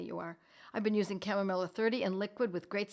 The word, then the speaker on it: chamomilla: Chamomilla, my friends, remember these are Latin words. So if you look up chamomilla and you put in K-A-M, and you phonetically try to figure out the rest, it will correct, right? We live in a world where corrections are made for us, and it will come out with C-H-A-M, chamomilla.